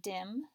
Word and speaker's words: dim: What's different is you notice it doesn't have that silent E because that E would make that I say its name. Since this is the short sound, it's just spelled D-I-M.